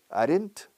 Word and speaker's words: aren't: Are not, aren't, decís muchos aquí, se dice aren't, es una sola sílaba.